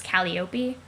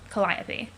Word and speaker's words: Calliope: her Trollsona's name is Calliope, but the actual Greek muse for whom she's named is pronounced Calliope.